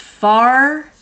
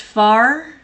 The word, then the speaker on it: fear: Fear is pronounced far and means man. Okay, thank you, Mysil. Thank you. Fear is pronounced far.